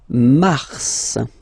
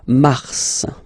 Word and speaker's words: Mars: So, in a way it's an exception because normally final S is not pronounced in French. Okay. We've got some exceptions and this one is one of them. So Mars pronounce the final S.